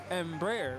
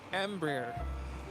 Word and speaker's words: Embraer: now amber ember really is that really how you say really embryo so i've been saying this wrong this whole time gus and brayer i've been saying it that way myself embraer but apparently it's embryo all right well it's like